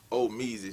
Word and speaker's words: Omeez: And the name is actually pronounced Omeez for the southern slang, but it's spelled Omeez.